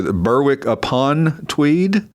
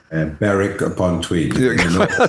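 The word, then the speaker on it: Berwick-upon-Tweed: Uh, Burwick, I guess the proper way to say, Burwick upon Tweed. Beric upon Tweed. Of course I screwed that up. Bareric, you don't pronounce the WW.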